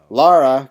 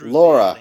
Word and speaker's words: Lara: Let me say that again. Lara Croft, not Laura Croft. It even says on the damn box, people. That's not that hard to pronounce.